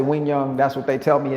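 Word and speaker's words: Quy Nhơn: City Vietnam that's q-u-y-n-h-o-n that is pronounced win young some people say Q young but I say Wing young that's what they tell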